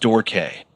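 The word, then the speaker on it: Dorque: It's pronounced Dor K.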